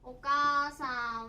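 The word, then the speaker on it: お母さん: お母さんは、かあと読みます。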